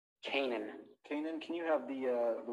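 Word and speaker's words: Canaan: Are you saying Kamen? Kanan. Kanan, can you have the witness spell that name, please?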